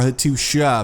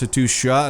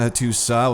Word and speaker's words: Hattusa: Hattusa, or Hattusha, apparently I should say. Someone left a comment getting a little bit upset about that. Apparently it's pronounced Hattusha, not Hattusa, which I have been calling it.